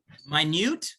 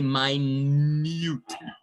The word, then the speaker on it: minute: a weird one because it's spelled exactly like minute but we say my mute right so minute and